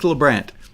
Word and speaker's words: Lebrandt: nancy and keith keith lebrandt rhymes with lou grant um okay so once